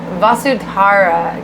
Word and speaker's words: Vasudhara: Vasudhara, because it's always Tara. So okay, that makes sense because it says Tara right there.